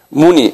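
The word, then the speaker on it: Muni: 우리는 석가모니라고 그러는데 제가 영어 스펠링을 드릴게요. S-A-K-Y-A. 사키야. 무니.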